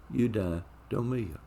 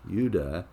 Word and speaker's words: eudaimonia: It's eudaimonia. So what is that? The word is a combination of two Greek words, eu, it's spelled E-U, and daimon, D-A-I-M-O-N, eudaimonia.